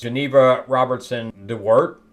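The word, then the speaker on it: Geneva Robertson-Dworet: same two people that did Westworld did this Geneva Robertson Dart that's how you say it she created this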